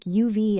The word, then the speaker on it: have: Remember have often sounds like UV in fast speech.